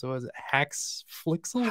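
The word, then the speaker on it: HaxeFlixel: I'd never heard of, I still can't pronounce it. Was it Haxflixel? Haxflixel, yeah.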